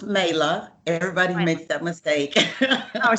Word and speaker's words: Mayla: joint podcast hello madeline first off um it's pronounced mela everybody makes that mistake i'm sorry no it's